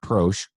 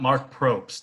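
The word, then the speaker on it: Proksch: as Guillermo and Marc proche how do you say his name that's pretty much it it's like German pro not mark Probst there Jeff Probst no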